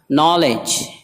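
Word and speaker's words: knowledge: नॉलेज इल्म, नॉलेज इल्म, इसमें दो जगह खामोश है, के भी खामोश है शुरू में एन से पहले आने की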